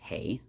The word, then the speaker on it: he: wholly indistinguishable in pronunciation beginning as h e pronounced hey h-e-o-h-o or h-i-t hit